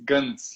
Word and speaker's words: Gönc: states i was like i never heard nobody pronounce my last name and i came to the states and i was like oh gong so it's like no my last name is guns you pronounce it guns like a you know if you go to a club at night and you hear that beat it's like guns consequences oh like like